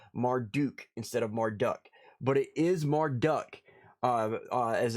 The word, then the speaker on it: Marduk: being being pronounced marduk instead of marduk but it is marduk uh as it's pronounced supposedly anyway uh it was marduk who